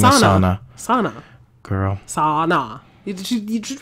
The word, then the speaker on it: Sana: Her name is Sana. Sana. Girl. Sana. You just right there. No, that's true, Sana. But not spelled like sauna. No, but like sauna.